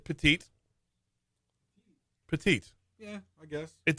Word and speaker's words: petit: How does petite shorten to just T? Like, well, you don't pronounce the last T, so it's just Right.